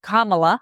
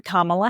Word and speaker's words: Kamala: So that opens the gate, and everybody assumes Kamala Harris is going to be, or Kamala, I think she pronounced it, Kamala Harris, is going to be the party choice for for president.